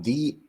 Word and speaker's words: Dy: Yeah, it's it's actually pronounced D. D is my last name.